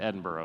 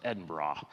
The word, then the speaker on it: Edinburgh: That's how they say it over there. It's not Edinburgh, it's Edinburgh.